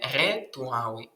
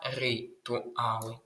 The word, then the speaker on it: ритуали: Не ритуали, а ритуали.